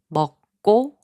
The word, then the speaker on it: 먹고: 먹고, which means eat and, is pronounced as 먹고.